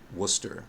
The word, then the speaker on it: Worcester: when things in Massachusetts you don't know how to pronounce them Worcester that's that's how you say it corporations could also promote